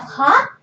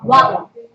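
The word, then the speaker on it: は: So instead of ha, you pronounce it as wa.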